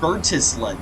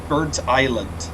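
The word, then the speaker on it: Burntisland: originally got this route I was saying bertis not realizing it was birt Island which is pretty funny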